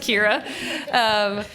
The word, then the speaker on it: Ciara: It's pronounced Kira.